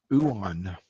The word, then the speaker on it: ioun: scrolls and I think you said Eon stones, if I'm pronouncing that correctly. Uon. Uon, sorry. Let's have a look here. And it's spelled IOUN.